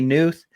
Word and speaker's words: Knuth: helping out with and some people say news some say canoes uh there's some people